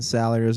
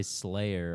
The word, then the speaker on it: Salyers: I was- Your name makes sense, like the way it's spelled. I mean, it's pretty much Salyers, Salyers. Like, how can you get it People- wrong? People Yeah. try. That's what they. People say Slayer a lot.